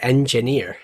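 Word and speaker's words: Enjinir: physics construction game the engineer and I say it like because it's spell e the e n j n i r it looks similar in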